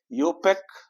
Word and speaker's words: IUPAC: यूपेक, इसको पढ़ने के लिए हम लोग आई को साइलेंट रखते हैं। आई को क्या रखेंगे? साइलेंट। और इसे यू और इसे पैक।